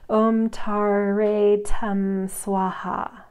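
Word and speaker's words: Om Tare Tam Svaha: Okay, there's a breakdown here of how to pronunciate it in English, so I'm going to do that now. Don't listen to what I just said. Om Tare Tam Swaha.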